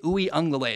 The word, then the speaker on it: Uiagalelei: DJ Uiagalelei is how you say that.